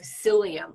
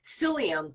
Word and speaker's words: psyllium: PubMed or just Google psyllium and it's spelled for the people listing it it's spelled p-s-y-l-l-i-u-m not not with an S so p s y so Google psyllium and